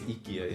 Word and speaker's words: IKEA: Pronunciation is chips. It is ikyia.